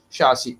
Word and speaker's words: chassis: we could learn that this is not chases but it is chassis.